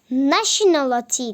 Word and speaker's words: nationality: demektir arkadaşlar Country Nati bakın mesela buradaki t t değil Latin aleti değil nationality diye okunuyor falan dikkat etmeyi unutmayın